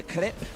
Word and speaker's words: crepe: You want a crepe?